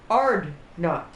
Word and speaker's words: Hardknot: But you take the K out and you take the H out because orcs can't pronounce H's and K's very well unless they're yelling wah. It pronounces Ardnot, which is where it came from. All Herald Ardnot, destroyer of faces.